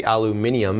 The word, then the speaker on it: aluminium: He told me the reason they say aluminium is because it is actually spelt differently. They spell it different too?